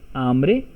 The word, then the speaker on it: hambre: So tú tienes, hungry is hambre, h is silent, hambre.